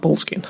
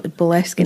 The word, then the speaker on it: Boleskine: It's not Boleskine. No, Boleskine is how you're supposed to say it. And I said Boleskine House the entire episode. To be fair, it's spelled Boleskine House. It is, but that's not how you say it.